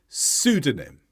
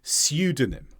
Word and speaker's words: pseudonym: and the US pronunciation in the United Kingdom it's more likely to be pseudonym where there's a y sound before the U in America that sound